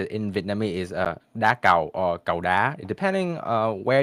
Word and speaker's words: đá cầu: Shuttlecock, how to pronounce it in Vietnamese is đá cầu or cầu đá, depending where you're coming from. Mostly, there is an emphasis on the second syllable.